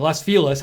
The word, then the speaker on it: Los Feliz: was in Los Feliz I started Los Feliz that's how you pronounce it in LA in Los Feliz it